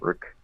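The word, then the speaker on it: Riq: Rick.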